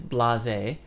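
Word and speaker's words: blasé: the next one is blase and this is a French word which is why the pronunciation is a little bit different and this means like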